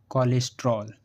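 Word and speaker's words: cholesterol: जैसे कोलरा, collar, कोलरिक, कोलेस्ट्रोल। इन सभी words में सी एच के बाद ओ एल आया है और हमने सी एच को का से पढ़ा है।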